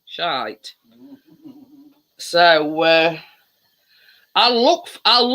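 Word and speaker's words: Shyte: there's a chocolate called shite yes but not spelt like that um s h y t e but still pronounce the same shite so uh i'll look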